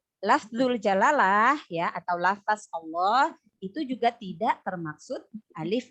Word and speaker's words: Allah: Sebenarnya huruf lam itu adalah huruf tipis ya, tapi khusus pada lafzul jalalah ya, lam dibaca melihat huruf sebelumnya ya. Cara membacanya apabila yang pertama, apabila lafzul jalalah didahului oleh huruf yang berharokat fathah dan dhamma, maka lamnya dibaca tebal ya, atau tafkhim.